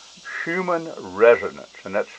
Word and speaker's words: Schumann: know a lot about it, but it's called Schumann resonance, and that's spelled S-C-H-U-M-A-N-N, Schumann resonance.